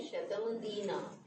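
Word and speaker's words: शतमदीनाः: अच्छा, इसका उच्चारण देखें, क्योंकि तो बड़े बड़े विद्वानों से पूछे, वो कहते हैं शतम अदीना, ऐसे बोलना चाहिए, कुछ शतम अदीना बोलते हैं ना, म में अ जोड़ करके बोलना है, शतम अदीना।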